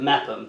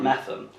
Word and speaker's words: Mepham: And I have no idea where that name comes from, but there's a theory in the family that because you pronounce it Mepham, not Mepham, that somewhere along my ancestry someone pronounced it wrong and it stuck.